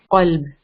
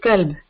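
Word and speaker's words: قلب: So we say qalb. But people, if they don't make, and if they don't pay attention, some people say kalb. Okay, they don't make it heavy, and then they don't pronounce from the proper place. So they make mistake. They say kalb. So qalb means heart, and kalb means dog.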